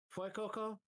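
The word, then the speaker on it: Fuecoco: Well, Coco's name comes from fuego, Yeah. pronounced like fue, means fire in Spanish. Okay. Fue, fuego, fue Coco, fue, fue.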